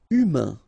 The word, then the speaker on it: humain: Humain. Remember, H doesn't exist. So, U, then A-I-N together. Un. Humain.